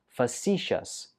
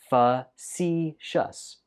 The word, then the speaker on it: facetious: It's pronounced facetious. Facetious. Facetious. Stress goes on the 2nd syllable.